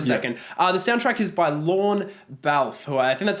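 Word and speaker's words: Lorne Balfe: the soundtrack is by lon valve - that's how you pronounce his name he's a frequent collaborator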